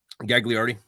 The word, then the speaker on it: Gagliardi: Gagliardi. Nailed it. Boom. Oh, okay. Technically in Italy, the second G is silent, but we're not in Italy, so you know.